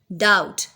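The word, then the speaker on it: doubt: डाउट, बी is silent.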